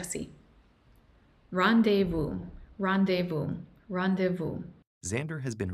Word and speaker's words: rendezvous: Y se pronuncia así. Rendezvous, rendezvous, rendezvous.